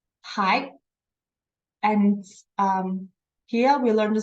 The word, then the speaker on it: 还: So the pinyin here is 还. The second tone, 还.